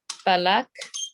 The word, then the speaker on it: palak: las pronuncian en India, y no las quiero pronunciar porque no sé si las voy a decir bien. Espinacas palak, did I say that right?